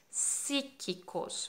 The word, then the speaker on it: psíquico: gigantes grandiosos no poderes psíquicos mira en español las palabras que empiezan por esta fe muda ahí a como neumáticos psíquicos psicólogo psiquiatra no se pronuncia para los hispanohablantes es